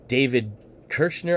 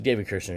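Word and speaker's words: David Koechner: uh next up is david kirschner i believe is how you actually say his name uh he's been in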